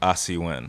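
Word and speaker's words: Asi Wind: Asi Win.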